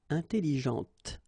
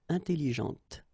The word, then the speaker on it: intelligente: Intelligente. Same thing here. When you put this well, actually you will pronounce the final T, okay, but you don't pronounce this here. Intelligente.